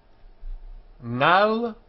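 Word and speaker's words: על: Our note here says that this letter is not pronounced, but it is pronounced in the Spanish and Portuguese pronunciation, which makes life a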